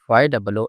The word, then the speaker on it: ゆ: ゆ、ゆ、 The pronunciation of character Yu in Japanese is something like the combination of YOO in English.